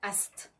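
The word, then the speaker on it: Aset: Ça s'écrit A-S-E-T. Divine Mère, mais ça veut dire, et on doit le dire, Ast. A-S-T, comme Ast.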